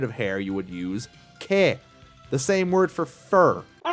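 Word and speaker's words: 毛: It's pronounced ke, and it also means hair, the difference being that kami is the word for head hair.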